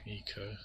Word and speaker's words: Ico: Or Ico, as you'd assume it's pronounced, but apparently it's Eco.